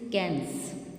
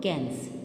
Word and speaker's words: Cannes: So it is basically international award, and बच्चे try to learn its correct pronunciation. It is Palm d'Or and it is Cannes. Palm d'Or, Cannes.